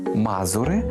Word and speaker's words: мазури: Отже, мазури або ж Мазури. Тут подвійний наголос.